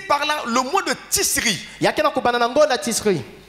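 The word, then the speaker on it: Tichri: Et bien, le calendrier juif commence ici par là, le mois de Tisri. Tisri. T. T. I. I. C. C. H. H. R. R. I. I. Maintenant, la prononciation c'est celle-là. Alors l'écriture, à la place de CH, parfois on met SH.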